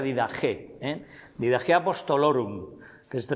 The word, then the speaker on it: Didaché: la didaje o didaché escrito, pero se pronuncia didagé, eh, didaje apostolorum, que se traduce como la enseñanza de los apóstoles.